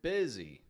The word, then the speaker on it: busy: Or the word busy. If you remove the Y from the ending, then it just says bus.